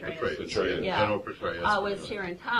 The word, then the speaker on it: Petraeus: Petraeus, Yeah.